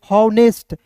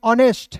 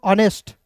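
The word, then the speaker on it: honest: हॉवनेस्ट हवनेस्ट नहीं पढ़ना है दोस्तों। यहां पे एच का उच्चारण नहीं करना है।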